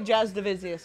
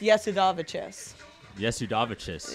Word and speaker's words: Jasudavicius: of stuff and then so my we say jazz davisius because i live in canada but it's actually pronounced yes yes udavichis yeah um okay you talk about moving forward